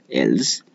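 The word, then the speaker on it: else: ई एल एस सी को कितने लोग इल्स पढ़ते हैं, जबकि इसका प्रोनाउंसिएशन है एल्स।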